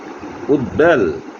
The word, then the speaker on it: উদ্বেল: উত একটি উপসর্গ, যেমন উদ্বাস্তু, এখানে বর উচ্চারণ বফলার উচ্চারণ বহাল রয়েছে। উদ্বেল, রসাউ দ বফলায় কেল উদ্বেল ইত্যাদি।